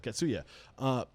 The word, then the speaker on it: Katsuya: At what point I always forget the name of this place you're working at, Katsuya. Am I saying it correctly? Yeah, Katsuya. Yeah, Katsuya.